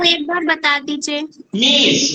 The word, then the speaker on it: میز: میز، मीज। देखिए बहुत से वर्ड्स ऐसे हैं जो फारसी में भी वही है उर्दू में, लेकिन प्रोनाउंसिएशन का फर्क है। हम कहते हैं मेज, वो कहते हैं मीज।